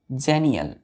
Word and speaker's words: xenial: देखिए एक्स को ना यहाँ जे पढ़ा जाता है ना, जे प्रोनाउंस करते हैं हम लोग। तो एक्स को यहाँ जे पढ़ेंगे तो क्या होगा?